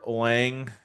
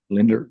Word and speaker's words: Linderbaum: The Raiders signed Tyler Langbum. Is that how you say his name? Linderbaum. Linderbaum. Linderbaum.